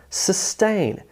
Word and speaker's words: sustain: It has emphasis on the second syllable. The first syllable, s, is smaller. The second syllable is larger, sustain.